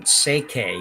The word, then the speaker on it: Schwaller: this is Aniko, and it sounds like you pronounce her last name Seike. You don't pronounce the L at all, and that's what it is.